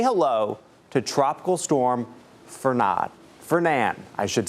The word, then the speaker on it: Fernand: Fernan, I should say. Tropical storm Fernan. You don't pronounce the D. It's a French name. I just recently learned that. I thought it was Fernand, but it is not.